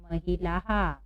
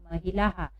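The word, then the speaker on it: महिलाः: तो आ की मात्रा है तो यहाँ पर भी उच्चारण हम क्या करेंगे? हा। तो क्या हो जाएगा यहाँ पर? क्या पढ़ेंगे हम इसको? महिलाहा। क्या पढ़ेंगे? महिलाहा।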